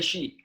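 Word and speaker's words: Hsieh: You don't pronounce the H. You just say she.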